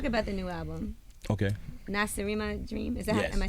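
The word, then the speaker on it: Nacirema: well let's talk about the new album okay NASA dream is that am I saying it right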